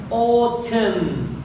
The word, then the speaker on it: autumn: أهم شيء أركز على الشواذ اللي هي autumn، حيث الN لا تلفظ أبدا.